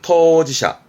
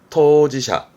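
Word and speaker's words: 当事者: 발음은 토지샤, 토지샤.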